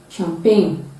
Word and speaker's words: champagne: in words initial indonesia stage we cannot shoe champagne sheep sheep chevron chateau at the middle position